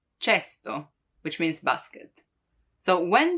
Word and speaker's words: cesto: For casa, house, casa, but the K sound can also be pronounced as ch, as in cesto, cesto, which means basket.